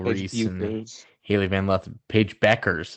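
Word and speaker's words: Paige Bueckers: and Haley van left Paige Beckers is apparently how you say it I'm like where's the U Cameron Brink but now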